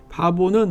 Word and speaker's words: 바보: 바보는 오늘날 파포스라고 발음하지만 성경에는 바보라고 적혀 있습니다.